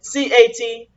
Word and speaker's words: Catholic: In New Orleans, they don't say Catholic. They say Catlick. That's how they pronounce Catholic.